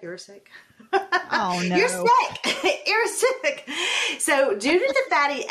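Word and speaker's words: erucic: oleic galileic and irritic I can't pronounce I'm going to spell it e-r-u-c-i-c actually do you know how to say that you're sick so due to the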